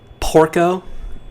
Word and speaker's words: Porco: i guess and am i saying it right porco yeah i guess that's why he doesn't like